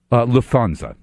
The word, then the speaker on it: Lufthansa: set the record straight and how is it Lufthansa Lufthansa yeah yeah why they have to put